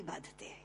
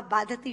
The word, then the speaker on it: बाधते: मुंह से बोला हुआ बाधती शब्द कष्ट दे रहा है क्योंकि बाधते शब्द का अशुद्ध उच्चारण आपने किया है यह शब्द बाधते होना चाहिए भारत न बाधती राजन